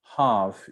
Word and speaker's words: half: don't speak the g half you don't speak the l right island island no